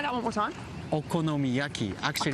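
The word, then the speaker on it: お好み焼き: Okonomiyaki. Actually, Okonomiyaki.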